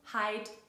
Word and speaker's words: hait: Das ist auch der Fall in heute, das zu Heid wird.